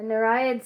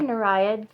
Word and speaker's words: Nereid: Okay, so here is the symbol, the Nereid Studios logo on the front. And how do you say that word, by the way? I say Nereid, N-E-R-E-I-D, Studios.